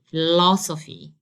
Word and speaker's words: philosophy: So I have to make the stress here, and simply I'll say philosophy, philosophy.